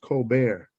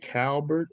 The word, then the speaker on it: Colbert: a coke it's pronounced it looks like cold bird on my mom's side but it's pronounced cold bear c-o-l-b-e-r-t when you said